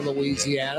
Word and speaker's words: Louisiana: pronounced New Orleans Louisiana we use five syllables down here in New Orleans for Louisiana the rest of the